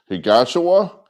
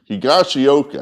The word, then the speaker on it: Higashioka: it's the video time and I still can't pronounce it. Higashiwa, Higashioka, I think that's it. Higashioka.